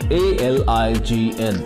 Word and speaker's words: align: series of actions for one goal number seven a l i g n how do we pronounce this word we pronounce this word as